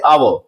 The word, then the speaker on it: hour: Start हो रहे हैं, लेकिन यहां एच साइलेंट होता है प्रोनाउंस करने पर। जैसे हम लोग इसे पढ़ते हैं आवर, ओनेस्ट, ऑनर, एओ।